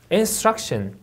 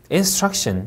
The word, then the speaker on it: instruction: instruction, instruction 이음절 강세.